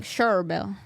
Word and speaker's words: Cherryville: I like Cherville. I like Cherville. That's still my favorite. It's spelled Cherryville, but it's pronounced Cherville.